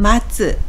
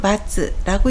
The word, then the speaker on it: 末: 음독은 마츠 또는 마츠라고 읽습니다.